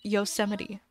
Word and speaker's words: Yosemite: know oh is it I knew that it's pronounced Yosemite correct I think I got it dositos thank